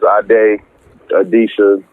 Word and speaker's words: Ade Adisa: Nah, my name is Ade Adisa from Charlotte, North Carolina, you know.